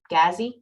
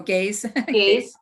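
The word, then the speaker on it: GAISE: How to find OER that is more, I always pronounce this wrong, Gazi? Oh, Gaze.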